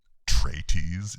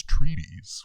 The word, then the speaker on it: treatise: and you're like dude it's not tray-tease it's it's treatise why were you saying